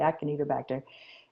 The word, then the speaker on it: Acinetobacter: I don't, Acina, Acinetobacter, I believe that's how it's pronounced with a K, Acinetobacter, in the nose.